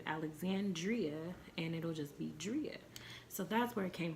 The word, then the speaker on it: Driaa: Like, it doesn't mean to pronounce the I differently, because someone tried to say, oh, I thought it was Drea because you have two A's. No, fool. Driaa with two A's.